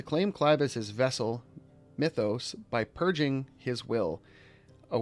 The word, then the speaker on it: Mythos: Drake's head he addressed Clive as Mythos not muthos like they insist on such a stupid pronunciation or pronunciation before attempting to